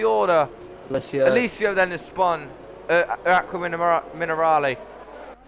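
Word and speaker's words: Acque Minerali: Alessio then has spun Aqua Minerale.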